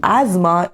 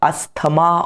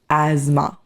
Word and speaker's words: asthma: For example, asthma is a chronic respiratory condition. The pronunciation is not ama or aama or whatever. The pronunciation is asthma.